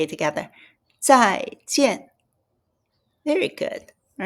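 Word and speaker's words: 再见: Then both are fourth tone, as you see it, so we have to hit it. z ai zai j ian jian Zai is again.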